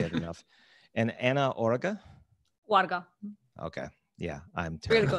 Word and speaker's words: Oarga: And Anna Oarga?